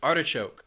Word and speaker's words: artichoke: Next is artichoke. This food has three syllables and the stress is on that first syllable.